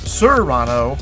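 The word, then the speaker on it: Surano: Whereas the convertible sports car is the sirano with more of a short u similar to the sound of the word suit.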